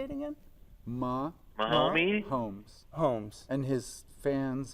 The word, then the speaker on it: Mahomes: Mahomes, Holmes, Holmes.